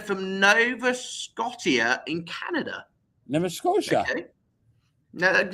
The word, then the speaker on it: Nova Scotia: Nova Scotia. Okay. Now, how do you pronounce it?